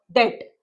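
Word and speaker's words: debt: पे द डेट। B silent है तो अवॉइड करेंगे। डेट।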